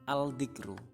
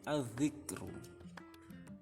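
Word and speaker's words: الذكر: Contohnya az-zikru. adzikru, bukan al-dzikru tapi adzikru.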